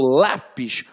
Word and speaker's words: lápis: Quando eu falo lápis, o lá tem um som mais forte.